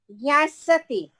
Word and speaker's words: ज्ञास्यति: ज्ञास्यति जैसे ज्ञानम, Gyasati.